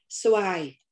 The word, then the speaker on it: Xoài: Xoài, mango, sound as xài in tiêu xài.